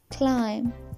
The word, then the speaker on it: climb: So pronunciation rule number one is, if M comes before B, then B will go silent. For example, lamb, thumb, climb, dumb, tom, comb.